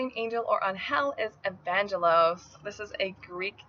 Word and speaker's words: Evangelos: This name could also be pronounced Evangelos for Spanish-speaking namers.